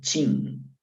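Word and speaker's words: Qin: a la primera dinastía que se pronuncia sin y por eso como ellos se escuchaban sin entonces sin dan que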